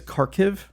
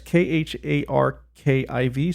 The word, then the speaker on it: Kharkiv: I can't really pronounce it. I think it's Kharkiv. It's Kharkiv, so I'm just going to say Kharkiv.